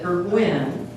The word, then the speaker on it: Burgwyn: I used to tell my students that Burgwyn is iambic. And if you say Burgwyn 5 times, you have iambic pentameter. That's how I would remind them that the accent went on the second syllable.